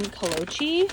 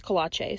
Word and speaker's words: Kolache: I've always been saying Kolochi, and she told me it's Kolache.